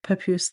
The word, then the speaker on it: Papoose: I don't know where Papoose Lake is. Maybe someone out there does. I just think the name's kind of funny because it rhymes with caboose, you know, and I always thought caboose was a funny word.